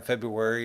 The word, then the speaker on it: February: Maybe it's because it is the shortest month, or perhaps the first R in February is commonly pronounced silently.